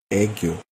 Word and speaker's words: aegyo: The robot voice pronounces it the way it wants, but in case you want to know, the correct pronunciation is aegyo.